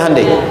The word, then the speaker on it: Hyundai: bikin Honda sini hundai Hyundai kan dibacanya hundai kan sana Honda sini